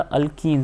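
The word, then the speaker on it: alkene: इसलिए इसकी नेमिंग में इसको हम ईन से प्रोनाउंस करते हैं।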